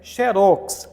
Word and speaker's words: xerox: esse caso gente ó terminou em x não tem acento É oxítono então a pronúncia é xerox acontece que neste caso